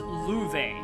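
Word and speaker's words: Loewe: his real name this time so this is pronounced llueve it's German for lion and that attack that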